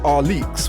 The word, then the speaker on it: Alyx: there's Alex 9sm stand for what it's actually pronounced are leeks which is named after Williams daughter the number